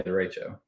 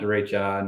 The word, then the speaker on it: derecho: Is that how it's pronounced? Yeah, derecho. Yep. Not derecha, not derecho.